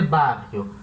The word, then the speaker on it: barrio: A diferença, em vez de ser bairro, vai ser barrio, tá? O I vai vir depois do R.